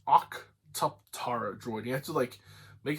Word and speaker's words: Octuptarra: It's Octuptarra droid. You have to make it sound like you're kind of like Geonosian and Neomonian from Star Wars at the same time. It's Octuptarra.